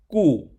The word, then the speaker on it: 固: The pronunciation of 固 (gù),is similar to "good," so we connect these concepts to remember 固 (gù).